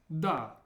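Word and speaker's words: да: It's pronounced da, da.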